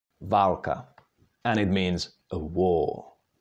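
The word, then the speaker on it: válka: how about this one there is long and short ah can you try to pronounce that Valka and it means a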